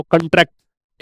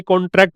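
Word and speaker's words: contract: Noun हो तो इसको पढ़ते हैं कॉन्ट्रैक्ट। ऐसे करके और वर्ब हो तो इसको पढ़ते हैं कॉन्ट्रैक्ट। कॉन्ट्रैक्ट। ठीक है?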